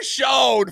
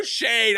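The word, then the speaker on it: Schoen: JOE SHONE, FOLKS, JOE SHANE, I THINK IS HOW you really truly pronounce his name.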